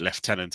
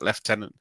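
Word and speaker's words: lieutenant: Wars unit called Fleet left tenant and they went oh our life is now complete we've had a Brit on the show calling it left tenant I said yeah I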